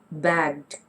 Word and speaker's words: bagged: It's supposed to be bagged with a D sound.